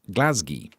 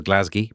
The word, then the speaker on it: Glasgow: currently being shot in Glasgi. Sorry, I think we have to say it as Glasgi because we have to apparently pronounce it as DI.